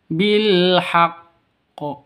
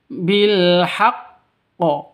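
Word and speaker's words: بِالْحَقِّ: ada dua ya jadi cara bacanya bilhaqqo seperti itu bukan dibaca bilhaq ya bukan seperti itu tapi bilhaqqo kenapa karena tas ada tasdid di sini nah kalau ada tasydid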